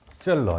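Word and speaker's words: Zöllner: 젤러. 이거는 그래서 그 왜라고 발음하면 되고 이거 U잖아.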